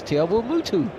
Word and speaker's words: Te Awamutu: Because I can't pronounce it. Oh, Te Awamutu. Of course, Te Awamutu.